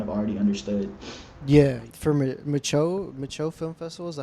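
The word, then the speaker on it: Micheaux: Yeah, for Micho Film Festival, is that how you pronounce it?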